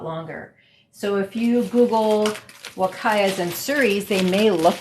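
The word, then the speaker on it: Huacaya: types of alpacas there is what they call wakaya it's spelled h-u-a c-a-y-a and then we also have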